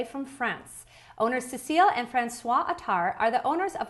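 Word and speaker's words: François: all the way from france owners cecile and francois attar are the owners of a new store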